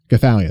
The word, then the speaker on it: Gothalion: Hell, like, go on fucking Mixer right now, and the top streamers are obviously Ninja, Shroud, and King Goth, Gothalion. That's how you say his name.